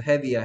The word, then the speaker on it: heavy: heavy야, heavy. ea가 에 됐습니다. 에 됐어요. heavy.